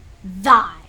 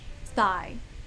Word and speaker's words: thy: Thy. Great word. Thigh. Rhymes with I, sigh, why, cry, I, die, goodbye.